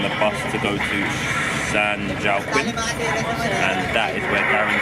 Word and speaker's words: San Joaquin: So he's gonna sit back, watch King Kong, and then and it's not San Joaquin, it's San Joaquin.